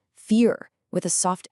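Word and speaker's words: vier: The letter V in German, a lot of the time it actually sounds like an F. So the number four isn't pronounced ver with a vibrating V sound. It's fear with a soft f sound.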